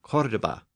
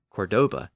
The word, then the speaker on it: Córdoba: They included Baghdad and Cairo in the east, and Córdoba, or Cordoba, in modern-day Spain. And by the way, I'll just use the English pronunciation of Cordoba going forward.